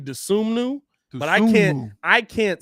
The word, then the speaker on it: Dosunmu: Okay, Ayo Dosunmu. Sue me. It's actually Dosunmu, but I can't say that while live calling it very well.